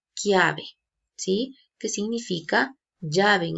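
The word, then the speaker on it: chiave: ver en rosado pero si yo pronunció llave en italiano yo voy a pronunciar clave sí que significa llave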